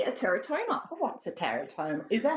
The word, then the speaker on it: teratoma: Oh, what's a teratoma? Is that how you say it? Yes, a teratoma.